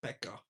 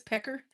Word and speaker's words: Pekka: You have this Finnish wood lumberjack called Pekka, who comes back to the shop and hands Did in you his say his name was Pecker?